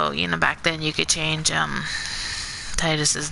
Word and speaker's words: Tidus: So, like I said, growing up, I always kind of read it and pronounced it in my head as Tidus, like, and then, like I said, I played Kingdom Hearts and they called him Tidus.